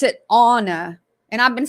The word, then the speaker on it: Ana: Okay, so he pronounced it Anna, and I've been saying Anna. So ANA normally is pronounced Anna.